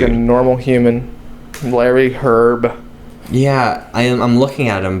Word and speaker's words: Hryb: Larry Herb, Major Nelson, yeah.